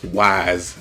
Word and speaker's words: Weiss: But yeah, I dig Weiss as a character. Wise, I guess I should say. Keep calling her Weiss for some reason. I guess it's just pronunciation. Doesn't really matter. It's how you can say it either way, right?